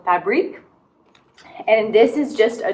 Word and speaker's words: Fabrique: We are wearing a sweater from Fabrique, and then I'm pretty sure it's not pronounced fabric because it's Fabrik with a little accent, so Fabrique.